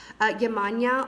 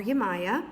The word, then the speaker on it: Yemaya: my favorite you guys yah mahn yah although I call her Yemaya there's a couple different ways to say her name which is golden opportunity